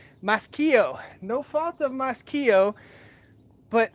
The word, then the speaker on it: Maschio: So no fault of Maschio. I was saying it wrong. Maschio.